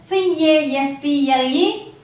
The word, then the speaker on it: castle: And next CASTLE, castle. Should not pronounce T here because it comes before letter L.